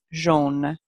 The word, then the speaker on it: jaune: So let's start with, I think everyone can find the yellow, jaune. So remember, AU says O, so this word is jaune, jaune.